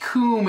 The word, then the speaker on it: cwm: It's pronounced coom. It says so right here.